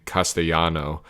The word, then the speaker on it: Castellano: voice actress for Benny, pronounces his last name Castellano as a Spanish speaker would, whereas the voice actor for Gia says it as an Italian speaker would.